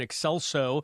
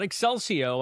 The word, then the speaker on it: Excelso: People they called us to account the last time because we didn't mention it for uh the Vox and Excelso, not Excelsio.